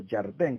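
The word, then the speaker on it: ירדן: también tevilá cuando cruzaron el río Jordán, o el río Yardén, como se pronuncia en hebreo, hicieron tevilá.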